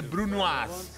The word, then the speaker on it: brunoise: Que se dice brunoise.